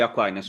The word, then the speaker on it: Aquinas: Saint Thomas of Aquin, or how do you say in English? St. Thomas Aquinas. Aquinas, you say Aquinas, okay.